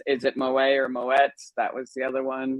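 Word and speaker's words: Moët: a dutch name and that's why you pronounced it and that's why it's not silent and i felt so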